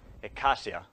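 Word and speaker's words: eikasia: The first is called ekasia, which is spelled E-I-K-A-S-I-A.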